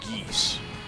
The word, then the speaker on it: Geas: Well, I've heard the G-E-A-S spelling pronounced geese.